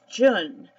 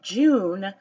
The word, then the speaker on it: Jun: up there now is June and it's spelled Ju and some people pronounce it June but it's Jun and in the blue